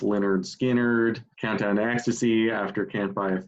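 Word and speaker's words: Lynyrd Skynyrd: wouldn't but you could um second helping after pronounced leonard skinnard countdown to ecstasy after campfire thrill and uh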